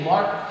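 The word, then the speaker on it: L'Arche: The last 10 years of Henry's life was spent at a LARC community. It's spelled with the French spelling, A-R-C-H-E.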